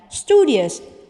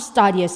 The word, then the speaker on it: studious: Once again, studious, not studious, even though the verb is pronounced as study, not studious, but studious.